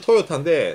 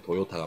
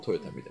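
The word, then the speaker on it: トヨタ: 정확하게는 토요타인데 예. 대한민국 한국어 사전에서는 대한민국에서는 일본어 같은 경우는 도로 발음되기 때문에 한국어로 땐 도요타가 맞겠죠. 영어로 읽으면 토요타입니다. 일본어도 토요타고. 민PD님 감사합니다. 예, 일본 사람은 토요타.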